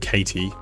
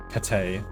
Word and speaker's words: Kate: Kate. Not Katie. Kate.